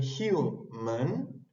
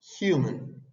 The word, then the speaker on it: human: termina en consonante c pero en human H la primera vocal la primera sílaba termina en vocal u human es una regla que